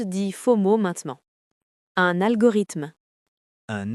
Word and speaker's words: algorithme: Un algorithme. Un algorithme. Attention à la prononciation.